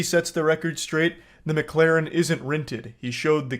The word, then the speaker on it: McLaren: Okay, so this part pisses me off because he says the name wrong like 8 times in a row. It's not McLaren, it's McLaren.